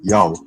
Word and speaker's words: Yao: And if you read Iota, Alpha, Omicron, read it as Yao, just like the basketball celebrity Yao Ming.